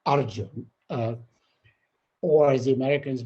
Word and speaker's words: Arjun: in other places the a sound uh in bengal is invariably o sound so i am not origin i am simply arjun uh or as the